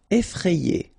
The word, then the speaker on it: effrayé: Effrayé. Okay, remember, double F, so you open the E, so E, effrayé. And here you get this frayé, effrayé.